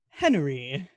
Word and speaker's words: Henri: Let's throw it to, is it Henri or Henry? How do you pronounce it? It's just straight Henry? Henry. Little Alright. extra emphasis with that extra E.